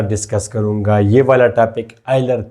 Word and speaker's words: Euler: करूंगा यह वाला टॉपिक आइलर थ्योरम और इसमें साइलेंट है इलर हम बोलते हैं मगर ठीक है ईलर बगैर सो के आइलर थ्योरम।